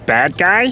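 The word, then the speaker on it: Badguy: Dominic Bad Guy? Pronounced Bad G.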